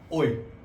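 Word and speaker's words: hoy: Today को हम लोग स्पेनिश बोलते हैं ओए, क्योंकि एच हमेशा साइलेंट रहता है.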